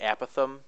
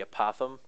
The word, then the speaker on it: apothem: people call it the a Pithom and some people called the apothem I'm probably gonna mix